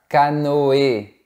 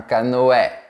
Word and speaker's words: canoë: a toujours des exceptions exception numéro 1 avec le tréma sur le E normalement on doit prononcer est mais il y a quelques petites exceptions où on prononce comme par exemple un canoë et pas un canoë